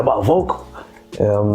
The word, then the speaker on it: Vokal: I'm like, I mean, we might as well put the K in there, because when I do go to home in Haiti, the K is still pronounced. You can even pronounce it vocal or vocal, and it's still. But if we put it with a C, it's almost like you have to say vocal because of the language or whatnot.